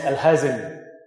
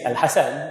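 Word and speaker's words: Al-Hasan: Al-Hassan ibn al-Haytham, in the West, he is known as Al-Hazan. His name is Al-Hassan, but they have a problem pronouncing his name, so they just call him Al-Hazan.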